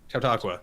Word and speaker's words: Chautauqua: How did you pronounce it? The Chautauqua? Chautauqua, that's what it is.